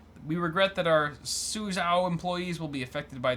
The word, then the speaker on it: Suzhou: So Seagate, they shut down one of their biggest production facilities in Suzhou, China. That's the only way I can pronounce it correctly. Suzhou.